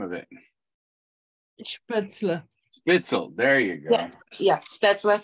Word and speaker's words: Spätzle: Spätzle. Spitzel, there you go. Yes. Yeah, Spätzle, yeah. Ingeborg, did I say it right at all? Spitzel? No, that's something totally different.